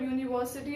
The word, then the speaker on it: university: But when we pronounce the word university and European, the sound begins with Y, and that is a consonant.